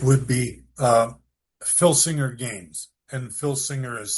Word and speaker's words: Filsinger: And Filsinger is spelled with an F as in Frank.